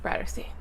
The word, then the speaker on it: Bratterstein: My name is and my channel name is pronounced BRATTERSTEIN. Like a Catterstein here, but BRATTERSTEIN.